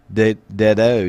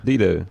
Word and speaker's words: Dedeaux: Okay, you know how it's EAUX, the Cajun. O. Dedeaux. DEDEAUX. Go ahead and throw it out there, Mike. Pronounce that one for me. Rod DEDEAUX. So I'd say Dedeaux. Dido, yeah.